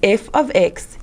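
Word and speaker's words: f(x): X close bracket equals X plus one we pronounce this as f of x equals X plus one that's pretty similar to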